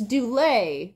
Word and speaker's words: Dulé: been saying his name, we've been saying his name wrong all morning. It's Dulé, right?